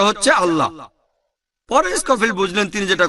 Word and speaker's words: আল্লাহ: একইভাবে আমরা জানি সঠিক উচ্চারণটা হচ্ছে আল্লাহ। তারা বলে এলা, আমরা বলি আল্লাহ, সমস্যা নেই, সঠিক উচ্চারণটা হচ্ছে আল্লাহ।